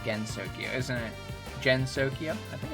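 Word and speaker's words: Gensokyo: And also, Gensokia is pronounced with a hard G.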